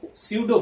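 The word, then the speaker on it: pseudo: वो क्या होगा, तो स्यूडो फोर्स पी से लिखते हैं। पी यहां साइलेंट है इसलिए एस ही प्रोनाउंसिएशन होता है, उच्चारण एस से आता है, लेकिन पी है यहां पर।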